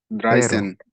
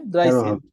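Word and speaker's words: dreizehn: বড় করলাম সবার সুবিধার্থে dry plus Sen ড্রাই সেন মানে 13 14 কে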